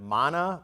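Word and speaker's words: Maná: say their name it's mana mana m a n mana mana I there's an accent on the second a Mana well that would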